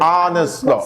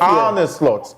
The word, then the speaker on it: Arne Slot: Tomorrow, we'll put how's the pronunciation again? Arne Slot. Slot for Ikeja. Arne Slot.